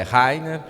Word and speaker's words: Reiner: Se quiserem pode ser o Reiner, mas a pronúncia é Rainer, mas o que importa é trazer aqui informações relevantes para os produtores.